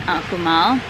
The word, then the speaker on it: Akumal: We are at the Akumal Bay Beach and Wellness Resort in Akumal. Akumal is spelled A-K-U-M-A-L, and it is Mayan for place of the turtles, because this is a giant sea turtle preserve.